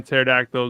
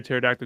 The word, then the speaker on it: pterodactyl: Anthony Laterno, why can't a pterodactyl go to the why can't you hear a pterodactyl go to the bathroom? Because the P is silent.